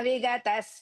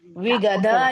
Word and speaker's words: विगत: Jitatma vigatas spruhaha. Jidatma vigatas spruhaha. No. Jidatma, no. Jita, first ta, and Vigada is not there, Vigata. जिदात्मा विगतस्पृहः जिदात्मा विगतस्पृहः And learn that how to pronounce the tha bagini.